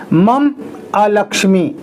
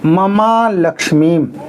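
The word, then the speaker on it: ममालक्ष्मीम्: लक्ष्मी शब्द आया है इस शब्द को आपको मिलाकर के ही बोलना है। अलग-अलग नहीं बोलना है। मम अलक्ष्मी ऐसे नहीं बोलना है। ममा लक्ष्मीम इसी तरह से बोलना है।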